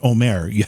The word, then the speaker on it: Omer: Mark, I think you must be the most polite person I've ever had on the program, because I've been saying Omer this whole time, and apparently it's pronounced Omer.